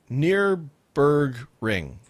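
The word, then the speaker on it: Nürburgring: week's show and uh gave me a phonetic way almost to spell that or say that so um let's see he said near berg ring nearbergering and nord schleiffey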